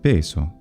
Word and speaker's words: peso: Italians, and that's because the traditional pronunciation of the S intervocalically for the majority of words is voiced, but there are several words in traditional standard Italian pronunciation that are retained as voiceless, and those include così, caso, cosa, naso, mese, riso, sorriso, of course, as well, and peso.